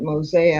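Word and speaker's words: Mose: uh and I wrote a book called Fort Mosa.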